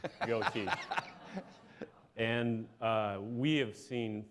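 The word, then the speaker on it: geaux: and uh at LSU it's called go teach spelled a particular cinjun way. Yeah, it's spelled kinjun g e a u x go.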